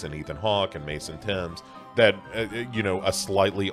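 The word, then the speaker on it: Thames: Finney, a kid named Mason Timms, I think is how you would pronounce that, like the river, that's how it's spelled.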